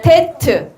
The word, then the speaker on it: ט: 티이라고 읽겠죠? 히브리어는 오른쪽에서 왼쪽으로 그죠? 읽습니다. 테트.